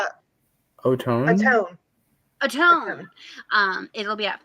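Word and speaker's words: Ottone: Autumn? How do you say it? Atone.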